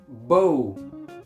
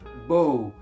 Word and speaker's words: bow: at least three different meanings first when it's pronounced this way Bo bow it may be this object this type of